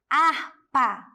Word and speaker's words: harpa: letrinhas e pontos sons agora vocês já sabem quantas sessões harpa somente quatro porque o h não tem som ou seja quatro fonemas E na escola um